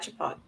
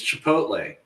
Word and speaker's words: Chipotle: back to Taco Tuesday yep braford we had chipot chipot Chipotle Chipotle I'm slaughtering it right Chipotle Marshall's like I'm not saying it I don't know how to pronounce it it's Chipotle that's what I said okay I was gonna